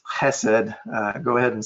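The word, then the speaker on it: חסד: or something like that that's like nails on a chalkboard to me it's Hesed go ahead and say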